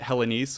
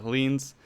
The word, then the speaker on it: Hellenes: In the script, I had pronounced it Hellenes, which people were questioning if that was even a real word, and it's not, so we'll retroactively correct that to Hellenes.